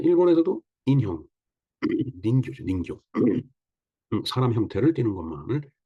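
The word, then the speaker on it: 人形: 맨 처음에 닌교가 뭔지 몰라갖고, 닌교. 그러니까 이제 토이 얘기를 해주더라고요. 그래서 이제 가만히 생각을 해보니까, 사람 인자가 얘네들이 닌 아니면은 진으로 발음을 하죠.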